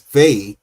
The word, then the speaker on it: Veh: can be placed inside the Enochian syllable sounded as Veh, V-E-H, which carries the ideal